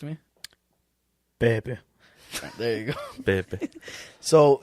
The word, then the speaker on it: Pepe: I don't know how you pronounce it properly. Yeah, Zach, do you want to correct me? Pepe.